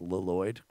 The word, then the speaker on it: Lloyd: it's spell it's pronounced lyd because one of the L's can't be silent because why would you have another L immediately like why would you